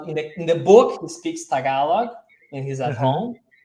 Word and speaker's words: Tagalog: You speak Tagalog? I don't know. Yeah. I think it's in I as well. speak Tagalog. It's Tagalog, pronounced as Tagalog, Tagalog, Tagalog.